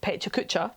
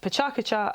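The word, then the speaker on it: PechaKucha: you don't know what I thought it was pronounced Petra Kutcher because I assume that things are pronounced the way they are in English sorry Colonial me but it's pronounced pachakacha and it's cool and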